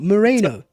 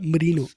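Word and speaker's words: Merino: Moreno. Stop calling him that. Oh my god. Marino.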